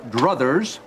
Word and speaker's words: druthers: situation and had her druthers that word is in boldface notice how it rhymes with Carruthers she'd take a wrench